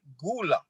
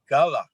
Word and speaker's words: Gullah: people through the years the translation changed from gula in africa which they still pronounce it gula and we pronounce it gala so having said that